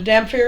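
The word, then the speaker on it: dhampir: a Damar you want to know what a Damar is it's spelled d h a m p h i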